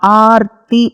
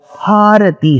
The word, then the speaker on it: हारती: गलत, क्योंकि आरती का मतलब होता है संस्कृत में कष्ट, डिस्ट्रेस. तो गंगा जी की आरती उतारते हैं, वो आरती नहीं है, वो हारती है. ह जो अक्षर है उसका उच्चारण करके आप बोल सकते हैं हारती. So that is हारती. Ganga ji की हारती हो रही है, रंगनाथ जी का हारती. सो इट्स हारती.